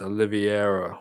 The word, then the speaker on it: Oliveira: It's a Brazilian name, bro. It's like Pereira.